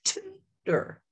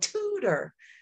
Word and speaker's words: tutor: So the second syllable, I'm going to say the er sound, right? Tutor. Oh, tutor, right? My mouth and what you heard was open wider and my voice was stronger. And now that second syllable said er. So now I have to learn about, and I have to know not to say ar, er, right?